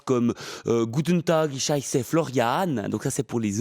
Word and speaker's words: Florian: Florian devient Florian. Florian, oui, c'est prononcé à l'allemande.